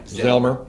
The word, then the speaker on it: Zelmer: I pronounced that right, Zelmer? Yeah, Zelmer.